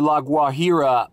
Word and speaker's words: La Guajira: Now, who knows where La Guajira part one is, but we're here at part two. And yeah, I know it's pronounced La Guajira. La Guajira, bro, La Guajira parte dos.